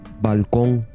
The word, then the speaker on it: balcón: The N consonant, n, is velarized and pronounced ng at the end of words. For Velarized. example, in the word for balcony, Balcón, the word for Balcón.